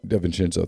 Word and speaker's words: DiVincenzo: DiVincenzo, thanks.